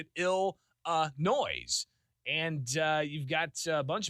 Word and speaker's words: Illinois: Of course, it's the right way to pronounce it, Illinois. With a very small number of people actually saying it's Illinois. Now that's the plural, right? Or the possessive. So Illinois' budget is going to be this. Illinois' team is going to do that. But you can't add that S at the end. It's supposed to be silent.